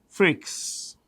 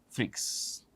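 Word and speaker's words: Freixe: actually l a u r e n t freaks f r i e x e freaks okay these are the CEOs of these companies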